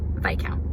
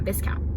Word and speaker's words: Viscount: I listened to the audiobook and it's definitely Viscount, not Viscount. So I was pronouncing it wrong the entire time.